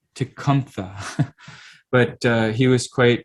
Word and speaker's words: Tecumseh: um shinwok did um you know tecumseh or it's actually pronounced tikampha but uh he was